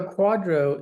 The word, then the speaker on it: QDRO: stand for and then what is it so Quadro is spelled it's all caps and it's just an